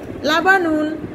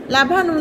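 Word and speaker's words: لَبَنٌ: লাবানুন লামে জবর, বায়ে জবর, নুনে দুফেস নুন।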